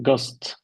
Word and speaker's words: ghost: Ghost. H. Excellent.